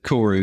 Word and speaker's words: CORU: Am I pronouncing that right? CORU? Sure, indeed. Yeah, CORU, the Irish regulator in the Irish healthcare system,